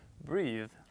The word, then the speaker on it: breathe: 그러니까 그때 이를 쓰느냐 안 쓰느냐에 따라서 발음도 달라지고 의미도 달라진다는 걸 여러분 기억하시고요. 다시 한번 따라해볼게요, 잔. Breathe.